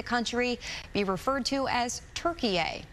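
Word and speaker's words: Türkiye: be referred to as turkey a the way it's spelled and pronounced in turkish it's a way to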